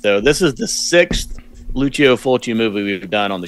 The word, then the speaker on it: Lucio Fulci: Luciano? It's Lucio Fulci.